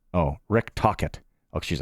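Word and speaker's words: Tocchet: I'm like, oh, Rick Tockett.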